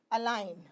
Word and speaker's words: align: so here you see we are speaking as a l i n n align as s s i